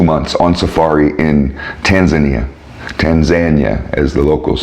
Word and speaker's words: Tanzania: weeks almost 2 months on Safari in Tanzania Tanzania as the locals say it we were in the seretti we